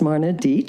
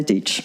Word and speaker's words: Deitch: And when I was in New York, and people always mispronounce the name, I remember someone once pronounced my name as Marna Deitch. And I looked at him and said, well, you might be right, but you're wrong. It's Deitch. But people always also mispronounce it as Deitch.